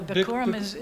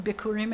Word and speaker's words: Bikurim: Yeah, Bikurim that's a good Yiddish way, and then Bikurim in the Hebrew pronounce it Bikurim, both to the ways.